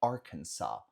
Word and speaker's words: Arkansas: A gente fala, no anterior a gente falou Kansas, Kansas. Aqui é Arkansas, não tem o som de Z.